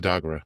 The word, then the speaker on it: Dagara: And so one thing I was really interested in is the Dagara tradition. Am I saying it correctly? Yes, the Dagara.